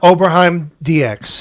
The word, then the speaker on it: Oberheim DX: How do you pronounce it? Oberheim DX.